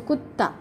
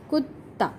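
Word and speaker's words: कुत्ता: One is half ta, second one is full ta. So kutta, kutta.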